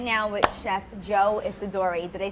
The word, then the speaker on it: Isidori: All right, sitting down right now with Chef Joe Isidori.